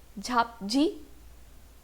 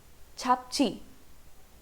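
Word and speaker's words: 잡지: तो पूरे वर्ड का प्रोनाउंसिएशन क्या होना चाहिए अकॉर्डिंग टू रोमनाइजेशन? झाप जी. सही हूँ मैं? बट no, this is नॉट the pronunciation. This is pronounced as छापची, छापची.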